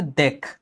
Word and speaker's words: দেখা: আ ধ্বনি যুক্ত হয়েছে তখন এটা উচ্চারণ হয়ে যাচ্ছে দেখা, নট দেখা। এটা কিন্তু আমি লিখতেছি দেখা কিন্তু উচ্চারণ করতেছি দেখা।